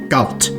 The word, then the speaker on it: Galt: Lies Galt fun fact official Guidance just says it must be pronounced gut a self-proclaimed Haven for